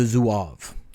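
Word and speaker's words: Zouave: have have a drink here it's called the zuav and I looked up how to pronounce that before I got on so it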